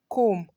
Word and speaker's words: comb: we have womb thumb comb climb plumber bomb in all of these words are more the B is silent so you're going to